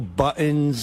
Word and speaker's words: buttons: It's buttons. T. You got to say a T.